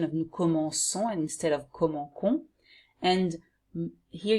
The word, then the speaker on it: commençons: And you have to put the C with a little thing here below, which is a C-C-D, to have this pronunciation of nous commençons instead of commençons.